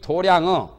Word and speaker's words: 도량: 실력 때문에 이 도량은 도장이라고도 하고 도량이라도 합니다. 불교에서는 발음을 도량 그럽니다. 도장을 도량성 한다. 아침에 도량에 다니면서 소리하는 것을 도량성이라고. 글자는 장자인데 발음을 도량이라고 보통 해요.